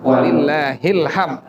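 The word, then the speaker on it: ولله الحمد: Terakhirnya walillahil hamd, hilham. Ujungnya ada dal. Karena dia waqful isyarah, maka kita membacanya seperti itu. Ilham, bukan ilham, bukan. Kalau ilham lagi ngopi di rumah. Bukan ilham, walillahil hamd.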